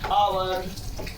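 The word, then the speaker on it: hour: है, H silent हो जाता है, एच का उच्चारण हम नहीं करते हैं। फॉर एग्जाम्पल क्या है, ऑनेस्ट, आवर, ऑनर।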